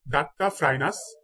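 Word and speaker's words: Duttaphrynus: কুনু ব্যাং, কুনু ব্যাঙের বৈজ্ঞানিক নাম হচ্ছে ডাট্টা, DUTTA, ডাট্টা ফ্রাইনাস, ডাট্টা ফ্রাইনাস মেলানোস্টিকটাস, ডাট্টা ফ্রাইনাস মেলানোস্টিকটাস।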